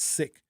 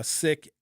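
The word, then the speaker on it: Sikh: It's actually not pronounced sik. It's pronounced sik. Uh sik s i kh.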